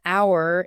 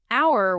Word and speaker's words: hour: Notice an hour is correct because the H is silent.